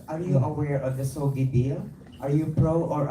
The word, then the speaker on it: SOGI: Pero para sa akin kasi when you talk about the, how do you pronounce it, sogi or sogi?